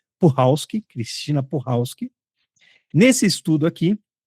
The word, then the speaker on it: Puchalski: Puchalski, quem não sabe, não é Puchalski, como eu falei por um bom tempo, mas eu vi ela mesma dizendo que a pronúncia do sobrenome dela é Puchalski, Cristina Puchalski.